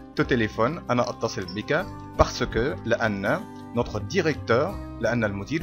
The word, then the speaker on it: parce que: طيب ننقل بعد كده على parce que. parce que، لأن، parce que. parce que. طيب في النطق السريع ساعات نلاحظها إنها بتنطق parce que.